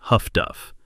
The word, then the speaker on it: HF/DF: The British called this system HF/DF, pronounced Huff-Duff, and in the early war, it was slow and inaccurate, but it worked.